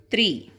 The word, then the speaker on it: three: and this is tongue here you need to put your tongue between your teeth and gently blow the air out that is three you need to